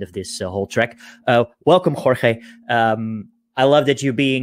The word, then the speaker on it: Jorge: Jorge, I pronounced correctly? Yeah, that's correct.